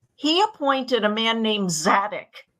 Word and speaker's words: Zadok: appointed a man named zadic z a d o k in Hebrew pronounced sadok to officiate as the